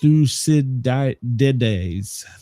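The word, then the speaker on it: Thucydides: Uh, see, it's pronounced thusides. Thusidi.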